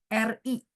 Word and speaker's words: 日: 星期天 atau sinonimnya ada orang bilang 星期日, RI. Bacanya 日, nada 4. 星期日. Ditekan ya, 日, nada 4 ya.